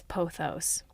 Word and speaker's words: pothos: meant to look up it's posos or poos let's see I'm going to going to double check with Google poos you guys it's poos at least that's what